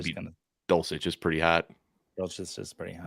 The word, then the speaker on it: Dulcich: Dulcich is pretty hot. Just the soft C with the CH is just like, it's nice.